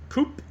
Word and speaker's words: Koup: I'm assuming this is koup, is how they pronounce it.